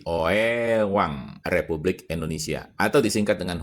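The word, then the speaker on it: Oeang: Ejaannya ditulisnya OE A N G. Pada saat itu OE dibaca U jadi OEwang Republik Indonesia atau disingkat dengan huruf menjadi O R I.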